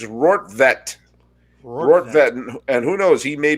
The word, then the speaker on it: Rortvedt: of planet earth and there they have the pronunciations it's rort vette and who knows he